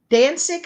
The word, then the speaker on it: Danzig: Danzig, I believe is how you say that.